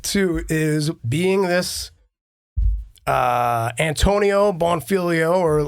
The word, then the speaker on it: Bonfiglio: So Bonfiglio turned into Bongholio and all sorts of other, mispronunciations that I couldn't really fix.